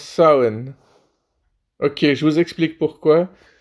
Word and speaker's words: Samhain: Oui, oui, on prononce Samhain.